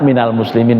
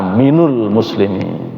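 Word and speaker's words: مِنَ الْمُسْلِمِينَ: Yang salah wa ana minul muslimin. Nah, jadi kita nggak ada yang minul kan? Nah, bacanya pasti minal gitu.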